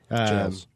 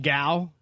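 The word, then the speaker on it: gaol: Jails. And he said, old Melbourne gal.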